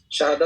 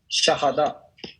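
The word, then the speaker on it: شهادة: What, how do you pronounce it? शहादा, सही है, शहादा, शहादा।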